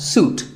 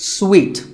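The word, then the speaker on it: suite: in a hotel and this is wrongly pronounced by many people as soot but it's sweet like when you eat a piece of candy sweet and while we're on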